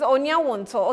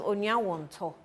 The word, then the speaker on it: Onuawonto: This name, when he comes, I think you should tell me how it's pronounced. Onuawonto. It's it's Onuawonto. Okay, my producer says Onuawonto.